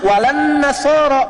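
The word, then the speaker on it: وَلَا النَّصَارَى: Cuman kita bacanya pakai kan alif lamnya syamsiyah tuh. Ya, lamnya masuk ke nun, walan nasara. Padahal itu tulisannya la, wala an nasara.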